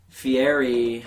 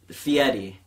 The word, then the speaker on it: Fieri: restaurants, and fucking guy Fieri, I know I'm saying his name wrong. I think that's how you say it. No, it's Fieri. Oh, is it really? Technically, it's Fieri.